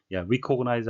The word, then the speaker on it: recognize: 철자 re는 re라고 주로 발음을 하는데요. 항상 그런 것은 아니고 본문에 나온 것처럼 recognize 아니고 recognize, represent가 아니고 represent, 발음에 유의하셔야 되겠습니다.